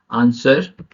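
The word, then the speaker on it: answer: W silent letter क्या है, एस के बाद डब्ल्यू साइलेंट होता है, एस के बाद डब्ल्यू साइलेंट होता है। एग्जाम्पल देखेंगे आप, आंसर, स्वॉर्ड।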